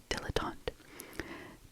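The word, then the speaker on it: dilettante: Dilotant. I I first saw it and I was like what the heck does that say? But it's dilotant.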